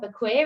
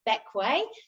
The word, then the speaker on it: Bequia: It's not Bequia, it's Bequia, just confusingly.